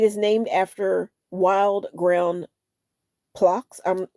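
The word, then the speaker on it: phlox: The flower, it is named after wild ground flocks. I'm flocks. I'm going to spell it P H L O X, also called moss pink.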